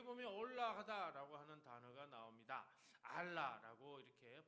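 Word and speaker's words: עָלָה: 알라라고 이렇게 발음하는데요.이 말은 단순히 장소를 옮겨간다는 뜻이 아니라 아래에서 위로 올라간다.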